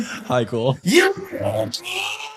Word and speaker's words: Hykel: Hykel.